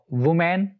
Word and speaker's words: women: गलत बोला जाता है, वुमेन और वुमेन, इसको ऐसे बोलते हैं लोग, लेकिन दोनों ही प्रोनाउंसिएशन गलत हैं। जो ए वाला है WOMEN, इसको बोलते हैं वुमन, वुमन, और जो प्लूरल है